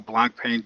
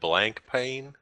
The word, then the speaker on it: Blancpain: All right, I do want to talk about a little about the new thing that iRacing has, which is their new Blancpain GT Series.